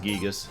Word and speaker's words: Gigas: it comes to gigas i know he's supposed to be pronounced gigas i don't care